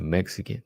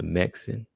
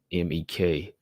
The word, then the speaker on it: Meksen: I always want to say Anissa Mexican, but it's Anissa Mexin. Because the way it flows off the tongue is like Mexican. You get used to saying Mexican when you put those two syllables together, but it's Mexin, MEKSEN, right? MEKSEN, yeah.